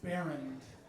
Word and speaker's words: Bernd: It's pronounced Bernd.